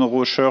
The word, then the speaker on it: Rauscher: Ok, et pour te contacter, on tape Rocher sur Internet et on trouve, ou comment ça marche ? Alors sur LinkedIn, c'est mon réseau préféré, LinkedIn, et Rocher, ça s'écrit R-A-U-S-C-H-E-R, okay. Et, c'est le prénom